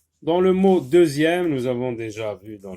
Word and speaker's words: deuxième: Dixième, comme dans le mot deuxième, donc il se prononce z.